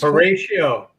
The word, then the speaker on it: Horatio: All right, how you pronounce this? It's Horatio.